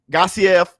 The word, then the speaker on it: Gassiev: Remember how Usyk used to fight, like as a cruiserweight when the Olympics, or as a cruiserweight when he was Gassiev, that's how you say his name, when he was fighting for Undisputed.